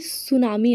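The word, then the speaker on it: tsunami: पर ध्यान देना है स्पेलिंग देखो टी से शुरू होता है लेकिन उच्चारण में टी नहीं आता है उच्चारण में सुनामी आता है है ना स से उच्चारण शुरू होता है इसका तो सुनामी के क्या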